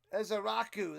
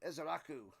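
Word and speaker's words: Ezeiruaku: Ezaraku, that's how you say it. Ezaraku.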